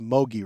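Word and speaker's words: Mougey: It's pronounced Mogi, right?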